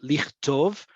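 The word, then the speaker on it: לכתוב: You see it here in lichtov, right? Lichtov. That ch has no vowel.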